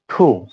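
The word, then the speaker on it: two: আমরা ওয়ান কে ওয়ানই বলি সাধারণত এর কোন উচ্চারণের কোন ভিন্নতা নেই তবে টু টু এর ক্ষেত্রে আমরা এদের উচ্চারণটা টু বলি কিন্তু এটা হবে ঠু ঠু কেননা আমরা এর আগের উচ্চারণে দেখেছি ঠু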